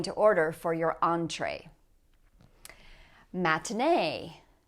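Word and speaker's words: matinée: Matinee. Matinee.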